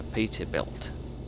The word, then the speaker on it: Peterbilt: truck think I gave the other bloke a Peterbilt that's how you pronounce it we developed that full beam it's